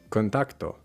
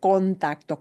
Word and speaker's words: contacto: So contacto, contacto, that o, that first o in contacto, contacto. There is no reduction in Spanish with vowels. Those vowels must be in there all the time, even if it's not the emphasized syllable. So in contacto, the tac gets more punch, yeah, naturally, it gets more stress.